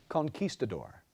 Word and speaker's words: conquistador: the canyon could you please repeat the word Conquistador can I please have the language of origin